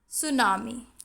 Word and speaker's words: tsunami: So hustle, tsunami. In these words also T is silent.